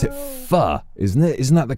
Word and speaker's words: pho: They pronounce it pho, isn't it? Isn't that the correct Yeah, I pronunciation? believe it's pho.